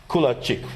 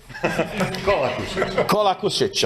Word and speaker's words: Kolakušić: And another colleague from Croatia, Kulačić, right? Do I pronounce it correct? Right now, not. Kolakušić.